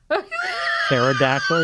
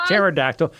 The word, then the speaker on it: pterodactyl: go to the bathroom why because the p is silent pterodactyl you get it that's her laughing that's why you can't hear pterodactyl okay she's easy okay give us a couple